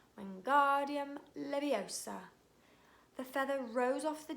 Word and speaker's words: Wingardium Leviosa: "Wingardium Leviosa," he shouted, waving his arms like a windmill. "You're saying it wrong," Harry heard Hermione snap. "It's Wingardium Leviosa. Make the gar nice and long."